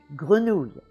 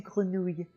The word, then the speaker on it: grenouille: The second syllable has 7 letters, but there's only 3 sounds. And those sounds are not hard to say, actually. It's the spelling that makes it look harder.